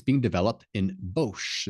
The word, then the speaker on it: Bosch: It's being developed in Bosch. It's a Bosch, I guess Bosch or Bosch. I'd say Bosch, but I think that in German it's Bosch.